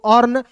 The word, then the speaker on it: earn: उसके बाद देखिए यहाँ पे EARN है, तो ई का यहाँ पे उच्चारण नहीं करेंगे दोस्तों, अ का उच्चारण अ के रूप में करेंगे, ए का उच्चारण अ के रूप में, एन का उच्चारण न के रूप में, आर है तो यहाँ पे रेफ लगा देंगे, अर्न। EARN, यर नहीं पढ़ेंगे, इसे पढ़ेंगे दोस्तों अर्न।